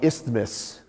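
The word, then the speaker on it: isthmus: there's that bottleneck right there uh on the ismus I said it right that time so this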